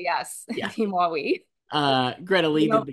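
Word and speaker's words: Dis-moi oui: Uh, Elizabeth Debicki did a dis- How do you say this, Joyce? D'Moiwi. D'Moiwi. D. I was going to say dis- Moiwi.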